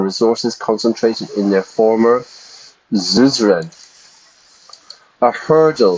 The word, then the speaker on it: Suzerain: I would say Suzerain, but the pronunciation is Suzerain.